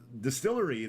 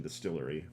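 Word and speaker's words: DSTLRY: So Distillery, they're charged, which is spelled what? DSTL RY. It's like an abbreviation, Distillery.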